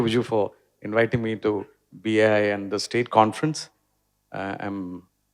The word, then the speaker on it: BAI: was sitting here, and I was wrongly pronouncing all these years as Bai, and he told me, Bai എന്ന് വിളിച്ച ബംഗാളിനെ ഓർമ്മ വരും അതുകൊണ്ട് BAI ആക്കിയിട്ടുണ്ടെന്ന്. So thank you for correcting me that.